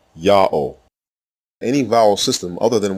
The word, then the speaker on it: Ya'oh: closes the first syllable the third letter W is the long o vowel like the second letter the fourth letter is also silent it assumes the sound of the previous vowel and closes the terminal syllable God's proper name is therefore pronounced yah pause o full stop Yao any vowel system other